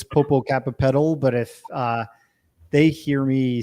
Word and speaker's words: Popocatépetl: And of course, I can't pronounce that volcano in Mexico, Mount Popo. Popocatépetl. Okay. In English, it's Popocatépetl, but if they hear me say that, they're like saying and that.